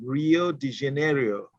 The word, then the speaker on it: Rio de Janeiro: I always have time pronouncing that name, Rio de Janeiro. Is that correct? Exactly. That's correct.